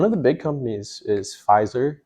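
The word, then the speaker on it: Pfizer: the big companies is fizer uh spelled with a p PF and then madna it's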